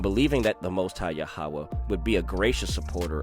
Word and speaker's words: Yahweh: name with 4 letters, which of late we have been used falsely to pronounce Jehovah, this is Yahweh, but seems to have been originally pronounced Yahweh or Yao, is never, I think,